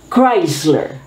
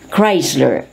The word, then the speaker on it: Chrysler: who attends to patients with neuro muscular problems chrysler chrysler this could be a brand of an automobile